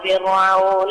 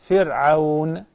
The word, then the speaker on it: فرعون: In order to perfect it, pay attention to the ra of the word فِرْعَوْن. It is very thin.